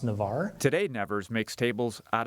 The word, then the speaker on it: Nevers: oak the name Nevers comes from a region in France which is pronounced Navarre today Nevers makes tables